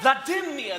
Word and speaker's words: Vladimir: Vladimir? Vladimir! The stress is on the second syllable of my name.